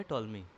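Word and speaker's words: Ptolemy: मैप बनाया था और टॉलमी थे जो पीस का साइलेंट रहता था उसको टॉलमी पढ़ते हैं टॉलमी थे जो कि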